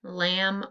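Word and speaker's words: lamb: the n m b lam um what's the silent letter the b and last one g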